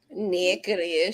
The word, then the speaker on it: Natchitoches: Natchitoches. She left us. Which is spelled nothing like it sounds.